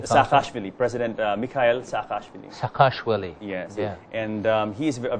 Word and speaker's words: Saakashvili: very forward-looking chief executive officer how do you pronounce his name Saakashvili President Mikhail Saakashvili akash Willie yes yeah and he's a very forward-looking chief